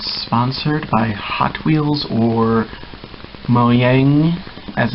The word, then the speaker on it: Mojang: yeah, I'm not sponsored by Hot Wheels or Mojang, as it's supposed to be pronounced, in any way, shape, or form, but this is the Minecart Hot Wheel car.